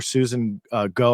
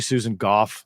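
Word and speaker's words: Susan Gough: and um that's obviously most people call her Susan go I had to increase my screen size here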